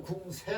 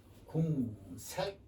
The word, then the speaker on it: 궁색: 궁색 가라한 말이죠 예 궁할 때 궁새 하지 않고 궁색 그렇게 읽습니다 예 궁색 예 됐죠네